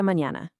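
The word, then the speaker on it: mañana: And honestly, my personal favorite, see you tomorrow, is aasta mñana. Notice that nya sound in there.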